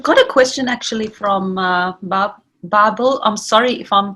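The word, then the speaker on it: Bärbel: It's Barbel. Pronunciation B-A-E-R-B-E-L, and it's got the note above the A.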